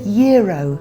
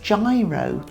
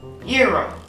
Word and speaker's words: gyro: You said "yeer-oh." Yes. I'm glad you taught me that because I've always read it, in America, and I thought it was pronounced "ji-roh." And that... But now I know how to say it properly.